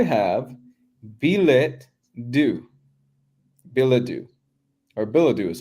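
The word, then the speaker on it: billet-doux: the answer I have belet do Badu or Badu is how it's pronounced excuse me Badu how do you spell it b i l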